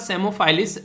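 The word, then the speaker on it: Psammophis: यहां पर ठीक है तो पीस साइलेंट है यहां पर तो समो-फाइलस और डोर सेल्स तो ये इसका नाम है जो की पीस साइलेंट है पी नहीं बोला जाएगा कलर तो आप लोगों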